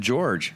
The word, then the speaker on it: Jorge: I am sitting here with my co-hosts tonight, Logan the Talker and George. It's spelled Jorge.